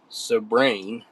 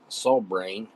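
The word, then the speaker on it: Sobranie: Subrain. Sobrain. Subrain. I would say Sabrain. S O B R A N I E.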